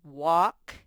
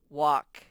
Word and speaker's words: walk: lan goes for a walk in the park land goes for a bird in the park walk and remember walk had that silent l because in the in